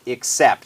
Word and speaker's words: except: ก็ อ่า ออก เสียง ถ้า เปิด พจนก กรรม มัน จะ ออก เสียง ว่า I K x แล้ว ก็ except นะ ครับ เหมือน สระ เอ ที่ เรา พูด ถึง มา แล้ว นะ ครับ ไม่ ใช่ สระ อิ แต่ ไม่ ใช่ สระ